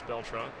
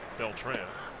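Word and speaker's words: Beltrán: here in the eighth there's Beltran that's the way he likes it pronounced by the way although he'll accept Beltran with Tom verducci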